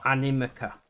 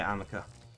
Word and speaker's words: Animica: Dark and Light Amica, or Animica is correct pronunciation, but I say Amica.